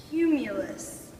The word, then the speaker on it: cumulus: is going to be this cloud it is pronounced cumulus cumulus i like how you guys are trying